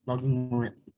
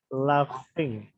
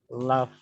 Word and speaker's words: laugh: Bukan logging, cara bacanya adalah laughing. Log. Tulisannya memang log, tapi bacanya itu GH, itu dibaca F ya nih, ada cara bacanya nih. Laugh.